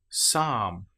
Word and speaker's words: psalm: Well, how about the example of the letter P when it comes before the letter S? Psychology psalm. Here we don't pronounce the P at all.